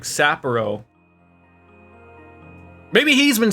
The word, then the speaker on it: Sapporo: It's not Sapporo, it's like Sapporo.